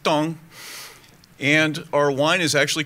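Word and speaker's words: 汤: So in China, soup is tong, which is T-A-N-G, but pronounced tong.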